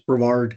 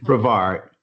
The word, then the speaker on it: Brevard: It's Brevard. Brevard.